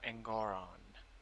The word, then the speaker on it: Engoron: Pronounce. Whatever. Arthur Engoron.